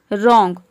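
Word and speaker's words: wrong: रॉन्ग, रॉन्ग में भी आप देख रहे हैं कि RONG को प्रोनाउंस करते हैं, डब्ल्यू को प्रोनाउंस नहीं करते हैं, रॉन्ग।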